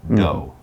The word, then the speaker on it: dough: d-o-u-g-h but it's just pronounced like d-o dough so as mike said